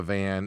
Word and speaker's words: Van: Then you got Alexandre Pantoja, Joshua Van in the co-main event here.